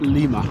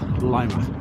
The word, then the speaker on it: Lima: Not pronounced Lima, Lima.